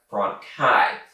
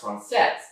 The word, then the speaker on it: française: In those videos, she mispronounced it as Francais. Now, I, being a bit of a Francophone myself, recognize that it's pronounced Francais, but I was really with being Duchess.